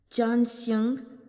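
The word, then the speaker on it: 占星: Divination is pronounced Zhanxing, sounds similar to Lu Zhanxing's name, which is Zhanxing.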